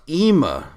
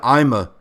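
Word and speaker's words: אמא: man and it sucks oh it's pronounced ema it's hebrew for mama i am sorry i have known you all this time and never knew that i always said ima i guess i'm a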